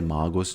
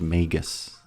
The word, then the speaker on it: Magus: I say Maggus just because I I'm used to saying it that way. But uh you know I know he's pronounced Magus.